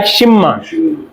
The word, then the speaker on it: 십만: तो it's mean क्या बनेगा, साउंड लाइक शिममान। किसकी साउंड देंगे, शिपमान की। तो शिममान की साउंड देंगे जी, समझ आ रही है।